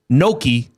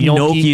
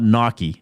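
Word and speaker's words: gnocchi: I think some people say I don't even think Noki is exactly right. But yeah, it's not I know it's not Naki.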